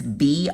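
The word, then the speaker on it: Bryndza: Robert, I don't know how you pronounce his last name. It's Bryndzа.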